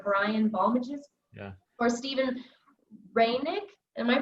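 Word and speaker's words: Steven Reineke: tyler grant or brian balmages yeah or steven raynick am i pronouncing that correct reinecke but yeah let me take this just for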